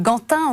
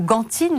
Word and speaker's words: Gantin: ce soir au cardinal Gantin ou gantine les deux prononciations sont admises l'une des grandes figures